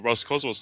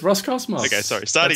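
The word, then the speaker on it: Roscosmos: I found that funny is it the Russian space agency or Ross kwos I'm like what that's what it's called it's Ros Cosmos their way of saying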